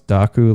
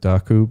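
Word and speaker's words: Dokku: of thin air uh I pronounce daku like Heroku but daku but who knows yeah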